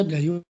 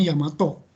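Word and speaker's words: 大和: Daiwa ini kadang-kadang dibaca Daiwa, tapi sebetulnya dibacanya Yamato.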